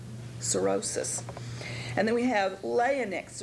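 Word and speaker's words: cirrhosis: aites sorosis sorosis and you'll notice there that that H is silent sorosis and then we have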